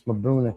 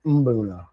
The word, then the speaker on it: Mbuna: to start draining this Mabuna tank. Mabuna, Umbuna, Mubuna, Booners. You guys make fun of me. I never say it right. Mbuna. I think it's Mbuna.